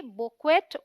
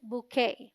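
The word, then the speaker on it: bouquet: है फूलों का गुच्छा अगर आप स्पेलिंग देखें तो आप इसे पढ़ेंगे बुक वेट बुक वेट में भी लेकिन दोनों ही इन करेक्ट प्रनंसीएशंस हैं बू साउंड लाइक बू रिंग विद शो के यू ए टी इस डी स्ट्रेस सिलेबस और साउंड लाइक के रिंग विथ दे स silent so D right pronunciation इस बुक है बुक है अब आप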